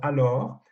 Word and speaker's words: alors: On a uniquement l'omission du S à la fin qu'on ne prononce pas.